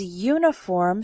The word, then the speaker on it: uniform: For example, we say a uniform because uniform starts with a y sound, but an umbrella because umbrella starts with an sound, a vowel sound.